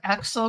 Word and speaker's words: Aaxel: conference preview with Alexa nazaro the founder of Axel group is that pronounced correctly yeah the Axel author group Axel author group um and you